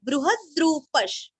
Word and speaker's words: बृहद्रूपः: अभी बृह के ह के ऊपर आघात देना है। बृहद्रूपश, बृहद्रूपश ऐसे बोलना।